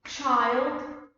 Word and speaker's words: child: вимогу знову ж таки Child тут I вимовляємо як в алфавіті тут просто як in children Маус змінюється на мазь